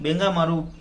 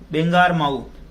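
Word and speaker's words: बांगरमऊ: बेंगामारू circle officer जो वहां के बेंगामारू एक जगह प्रोनाउंसिएशन देख लेना इसका, बेंगारमाऊ सर्किल ऑफिसर जो वहां के जो वृत्त अधिकारी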